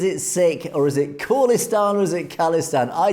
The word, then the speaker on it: Khalistan: this is the I finally found it it's pronounced kistan like phone call not kistan no disrespect it's all love appreciate the good